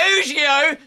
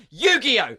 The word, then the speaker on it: Yu-Gi-Oh!: Yu-Gi-Oh! Fucking you son of a bitch! I told you to pronounce that properly! It's my religion! Yu-Gi-Oh!